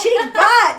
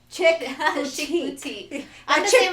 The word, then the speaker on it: Chic Boutique: Chick boutique. Not chick butt, but it looked like you say it like that.